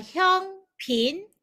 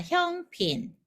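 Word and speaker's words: 香片: 한문으로는 향편. 그래서 발음이 형핀입니다. 형핀. 한문으로는 향편인데 광동어 발음은 이름으로는 형입니다. 형핀 이렇게 됩니다. 형핀.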